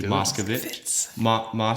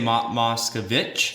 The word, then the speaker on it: Moscovitz: I'm going to introduce our guest, Moscovitz. How do I pronounce it? Moscovitz. Moscovitz. I Was tease I it. saying Moscovitch? Yeah, that's another way of, but that's not my family.